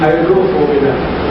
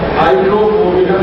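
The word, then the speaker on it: Hydrophobinum: दवा का नाम है हाइड्रोफोबिनम। मैं स्पेलिंग बोलता हूं, HYDRO, फिर उसके बाद PHO, P for parents, PHO, BI, ये भी वाला BINUM, हाइड्रोफोबिनम, ये दवा है। HYDRO, PHO, BINUM, हाइड्रोफोबिनम।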